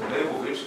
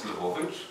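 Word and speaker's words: Levovitz: Mir, often pronounced as Lvovich. It's wrong, it's Lvovich, as the Yiddish spelling shows.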